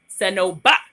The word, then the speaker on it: Senoba: My mom's name is spelled Senoba and pronounced Senoba, okay?